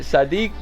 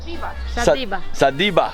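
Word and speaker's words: садиба: How do you say it? Sadiq? No. Sadiba. Sadiba.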